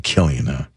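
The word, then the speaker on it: Cillian: It's it's it's rare that you come across someone's name that starts with a C, but it has a hard K sound.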